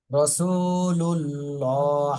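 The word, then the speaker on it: رسول الله: মোটা করে বলতে হবে রাসুল লা এটা বলা যাবে না লা বলা যাবে না ল বলতে হবে ল রাসুলুল্লাহ হাজেরহি রাসুলুল্লাহি রাসুলুল্লাহি এরপরে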